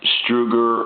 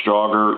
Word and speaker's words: Strowger: final checkout video of a struger or ster you know people pronounce it differently uh A&E telephone and